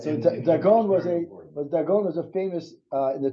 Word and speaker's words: Dagon: Not dagon, dagon. Oh, it's in the Brotosaurus, yeah? Yeah. This is my pronunciation. Some kind of fish thing. Right. So Dagon was a famous, in the time of Yehoshua,